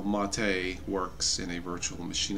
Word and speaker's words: MATE: developer ofun mate mate mate mate it is pronounced mate hello to Martin wimpress hello Martin I affectionally